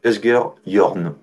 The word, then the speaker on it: Asger Jorn: Et comme il a un nom pas facile à prononcer pour un Danois, on dit Asger Jorn.